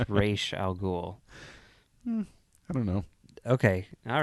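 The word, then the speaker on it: Ra's al Ghul: very good movie now you mean raal ghoul though um if you want to pronounce it like Christopher Nolan does but if you want to pronounce it the correct way as established I think prior to the Animated Series but on the Animated Series it's re Al goul I don't know okay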